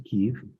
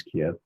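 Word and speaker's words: Kyiv: things and then went back to Kev, which most people pronounce Kiev and had some time and I thought, let's see if I can get to Chernobyl.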